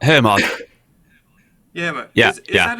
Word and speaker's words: Hermod: The Hermiod, is that how you pronounce it? That's the one that's done by Squarp. Hermod.